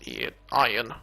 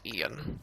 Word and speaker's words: Ian: His name, by the way, it's pronounced Ian, not Ian, like normal.